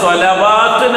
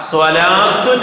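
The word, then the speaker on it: صلوٰة: സ്വലാത്തുൻ, അവിടെ സ്വലവാത്തുൻ എന്ന് പറയാൻ പാടില്ല, സ്വലാത്തുൻ എന്നാണ് വായിക്കുക. സ്വലാത്തുൻ ലാ കഴിഞ്ഞിട്ട് ലാമിന് നമ്മളൊന്ന് നീട്ടി പറയും.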